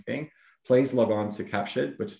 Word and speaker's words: CAPTUR3D: know virtual staging thing please log on to captured which is spelled c a p t u r 3d